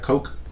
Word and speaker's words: Koch: his last name ceo's k-o-c-h is that coke coke yeah yeah so they're i know